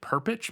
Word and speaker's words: Perpich: teacher he had named perpich Mr perpich I don't know how it's p r p i c h that's how I would pronounce it perit yeah um and he